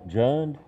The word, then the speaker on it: Jund: since it's happened am I saying it right JN yeah j n d but I'll let I'll